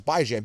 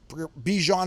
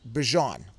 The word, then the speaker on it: Bijan: Actually, I'm fully right because it's Bijan. B-I-J-N. Like Bison, bi-weekly, Jan is ran. But, as in ran. But everyone was pronouncing it wrong. I was right. He even said Bijan is wrong.